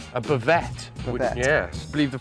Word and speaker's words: bavette: So what we got first is we've got a flank steak, also known in France as, how do you pronounce it, Chris? Bavette. A bavette.